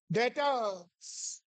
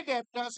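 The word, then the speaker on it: debtors: उन्हें क्या कहते हैं डेटर्स लिखते डेप्टर्स है मगर बोला जाता है डेटर्स 20 साइलेंट कितने का सामान बेचा है 20 कम की चीज ज्यादा में बेची है तो क्या हो गया?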